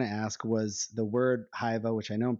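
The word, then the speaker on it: Hyvä: But Hyva is just it's like bon in French or good in English.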